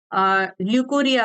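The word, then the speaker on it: leucorrhoea: ये क्या करता है ल्यूकोरिया करता है जैसे यहां पर आरो साइलेंट था यहां पर भी ये साइलेंट्स है इसको कहते हैं ल्यूकोरिया ठीक है ये एक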